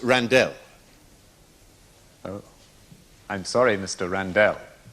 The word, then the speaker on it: Randell: Randall Randall what was that my name is pronounced Randall oh I'm sorry mr.